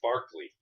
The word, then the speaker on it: Berkeley: because Berkeley California was named after a guy Irish uh uh philosopher named George Barkley and they mispronounce it oh but probably Irish